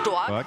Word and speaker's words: Stork: For all our non-German speaking, for the foreigners, It's pronounced Stork. and it means strong in Styrian.